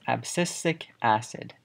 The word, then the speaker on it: abscisic acid: of plant hormones next on the list is abscisic acid so this is pronounced and spelled abscisic acid more commonly just